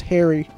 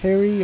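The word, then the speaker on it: Haerii: this is the i the only way i know how to pronounce it is harry it's h-a-e-r-i-i harry archaeopolis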